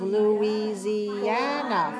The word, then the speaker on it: Louisiana: How many syllables? Louisiana. 5 syllables. And the stress is on the fourth.